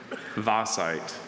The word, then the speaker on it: vaesite: Vasite. Really unusual vowel combination for that sound in the English language. The Belgian name, if you're familiar, can help.